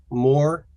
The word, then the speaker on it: Moore: And it's more, like more freedom, more liberty, more.